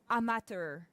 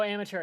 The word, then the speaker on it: amateur: I like how because of the French, right, she sees amateur and she thinks that it's supposed to be pronounced like otter instead.